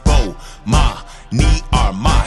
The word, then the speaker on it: Bomani Armah: announcements imma say my name so you can pronounce it oh ma me are my shout out to early advisors I see who